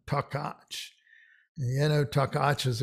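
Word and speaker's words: Takács: earth so jenna and this is takach so the ch is a cha son takach and you know takacha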